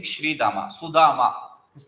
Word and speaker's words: Sudama: It is saying Sri Dama, Sudama.